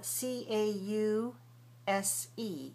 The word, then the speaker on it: cause: pronounced the same way for example c a u s e in English we say cause in Spanish we don't say a we say ow when we say those two letters in French when we say Au U we don't say a we say all so you got to throw that out r that up cuz in English we're going to say all and we're not going